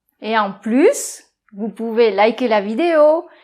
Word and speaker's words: plus: - Oui - Et pas de liaison, SS. - Donc par exemple, on pourrait dire aussi, tu es pluZZ en forme que moi.